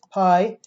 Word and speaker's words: pi: And remember, this is a pi, actually it's pronounced P in Greek.